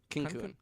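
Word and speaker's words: Cancún: Cancun. Cancun. That's how the locals say it.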